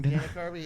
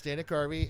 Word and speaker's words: Dana Carvey: yeah I got his I pronounced his name wrong Dana Carvey it's Dana Carvey and M yeah MC